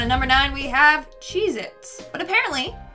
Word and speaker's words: Cheez-It: number nine we have Cheez-Its but apparently that tasty cheese cracker is not called Cheez-Its it's Cheez-It either I've been saying it